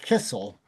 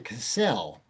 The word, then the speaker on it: Kissell: It had been pronounced Kistle and they changed it to Cassell. And they by moving the accent from the first syllable to the second syllable, they hoped that it